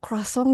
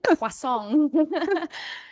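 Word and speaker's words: croissant: Bacanya crossong gitu ya. Bacanya kasong.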